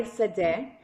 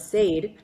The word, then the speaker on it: Sade: I thought it was Sad and you said to me, "No, it's pronounced Sad."